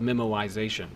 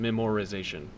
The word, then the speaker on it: memoization: just for your interest it's called memoization and I didn't just mispronounced memorization rather the word is memo like writing something down and so memo wise means to write to write things down as they happen so the technique is